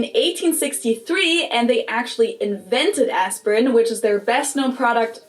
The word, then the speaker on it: Aspirin: about is the painkiller aspirin. Now that was the English pronunciation, but the correct German pronunciation would actually be Bayer. Bayer. And the medicine is called aspirin.